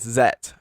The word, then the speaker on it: Z: gonna be talking about ultraman zet or z or zetto depending on how you say it so first things first